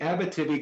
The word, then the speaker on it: Abitibi: So there is an enormous amount of interest in the Abitibi, sorry, let me pronounce that correctly, the Abitibi Greenstone Belt, which has been host, as we